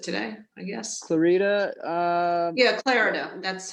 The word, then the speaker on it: Clarida: Clarita, Yeah, Clarida, that's how you say his name. Yeah, Richard Clarida.